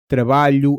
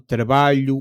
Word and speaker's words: trabalho: The letter combination lh is not an l followed by an h. It's a single sound. Not exactly like it, but close to the lli in the English word million, which I can't pronounce properly, your time to mock my accent. And it shows up in words like trabalho and filho.